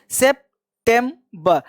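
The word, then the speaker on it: September: अब आर जो लास्ट में होता है उसको पार्शियल बोलते हैं, सेप्टेम्बर, सेप्टेम्बर। आर वाले उच्चारण को जब किसी वॉवेल के जब आर किसी वॉवेल के बाद हो तो उस आर का उच्चारण ना के बराबर या पार्शियल किया जाता है।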